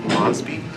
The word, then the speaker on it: Mosby: Did you just want to say your name and spell it? Sure, it's Mosbey, MOSBY.